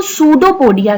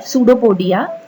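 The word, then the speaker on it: pseudopodia: उंगली की तरह, जिसको सूडोपोडिया कहते हैं। यहाँ साइड में आप देखिए सूडोपोडिया की स्पेलिंग लिखी है, पी से स्टार्ट है सूडोपोडिया, लेकिन पी साइलेंट है।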